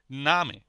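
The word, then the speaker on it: Name: মান আবার নামে নামে এখানে আ এর পরে কনসোনেন্ট রয়েছে একটি এর কারণে এর উচ্চারণটা হবে লং নামে আ স্বরে মত উচ্চারণ হবে নামে কয়েকটি বর্ণ আমরা উচ্চারণ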